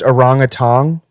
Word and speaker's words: orangutan: It's actually pronounced orangutan.